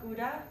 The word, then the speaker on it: Gouda: And you're probably familiar with the name Gouda or Gouda, but in the Netherlands, we call it Gouda.